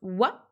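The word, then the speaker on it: は: particule donc il se il s'écrit bien ah mais il se prononce wa c'est la particule de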